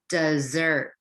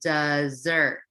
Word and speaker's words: dessert: we have been reading in this text today dessert okay let's say it together dessert and how do we pronounce this word with only one s desert